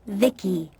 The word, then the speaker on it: Vici: transistors by the way i'm vici pronounced vicky my creator was vivi